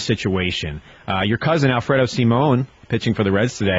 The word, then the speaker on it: Simon: keeps changing his mind he said that it was Simon at last check well I looked at the pronunciation in the Bill James gu and it said Simone so I I know